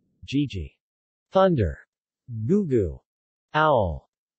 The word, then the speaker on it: gigi: G, as in English get, never is in general. Gigi.